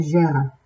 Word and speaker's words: Jera: Jera, written Jera, J-E-R-A, but it's pronounced Jera, as if H-E-R-A.